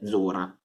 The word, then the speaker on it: dzura: E la DZ sta per zu, per esempio la parola zura che vuol dire di sopra, si dice zura e si scrive dzura, D-Z-O-R-A.